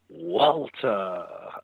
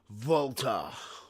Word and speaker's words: Walter: Or as different people pronounce it, Volta. Well, he is Austrian, so technically Volta is also correct.